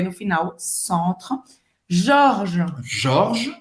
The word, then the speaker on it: Georges: Jorge, você não vai pronunciar esse E. Jorge, como é? O G O G tem é o som O. do O Jorge. G-E-O tem som de J, como se fosse Jó. Então vai Jó. ser Jorge e o S não se pronuncia.